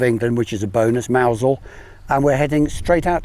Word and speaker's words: Mousehole: Is it Mousel or Mousehole? Well, it's spelled Mousehole, but if you're in the know, it's called Mousel, so Mousel. Obviously Mousel.